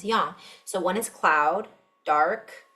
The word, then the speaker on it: yang: And it says here that the standard Chinese pronunciation is usually the level first tone is yin, with the meaning shady or cloudy, shelter and shade. Sunny is always pronounced with the rising second tone as yang.